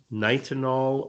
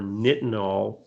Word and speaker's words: nitinol: And one of these things is called nitinol or nitinol, depending on how you would pronounce it.